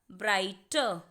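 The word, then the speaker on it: brighter: यहाँ पर ब्राइटर, ठीक है, जी एच भी साइलेंट है और आर जब एंड में होता है तो वो भी साइलेंट होता है, इसीलिए हम इसे पढ़ेंगे ब्राइटर। ब्राइटर नहीं पढ़ेंगे, इट्स ब्राइटर।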